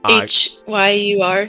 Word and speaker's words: Hyur: H-Y-U-R. Yeah, Hyur, I believe is how you say that.